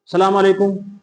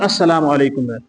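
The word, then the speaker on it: السلام عليكم: सी कोताही होती है अस्सलाम वालेकुम है असल लफ जो अरबी का है हम झटके सलाम वालेकुम दुरुस्त अस्सलाम वालेकुम कभी कभी लाम को खामोश जिसको साइलेंट आप अंग्रेजी में कहते हैं हज करके सलाम वालेकुम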